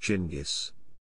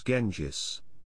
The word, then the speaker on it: Genghis: would be written genghis it is likely that the 13th century mongolian pronunciation would have closely matched gingis the english spelling genghis is of unclear origin weatherford claims it derives from a spelling used in original persian reports even at this time some iranians pronounce his name as genjis however review of historical